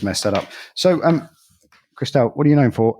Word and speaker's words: Kristel: south east london uh the accent then sort of covers over becomes crystal so i'll answer to anything